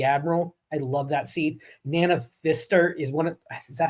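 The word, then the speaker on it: Nana Visitor: Na visitor. That's what you're saying. Yeah. Yeah. I can never pronounce her name.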